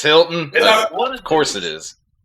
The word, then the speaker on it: Hilton: dude I don't know I thought it was hi Alton is it Hilton it's Hilton what of course it